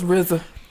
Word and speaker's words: RZA: It's RZA. Wu-Tang Clan ain't nothing to fuck with. Yeah. So RZA, he done said some stuff, man. That don't make no damn. Like, RZA, he had an interview and he told a